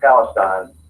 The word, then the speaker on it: Palestine: Anderson county is Palestine um you know it's pronounced Palestine I guess in the Middle East but here